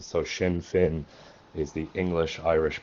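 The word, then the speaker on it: Sinn Féin: irish accent in english both words are meant to mimic each other and rhyme so shin fin is the english irish pronunciation if you wanted to be accurate pronouncing it in irish yes shinfan would be more uh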